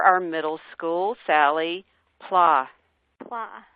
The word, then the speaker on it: Pla: Middle School Sally pla pla as in blah she said sadly to